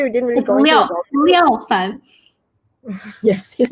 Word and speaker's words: Liao Fan: So how do you pronounce his name again? Liao Fan.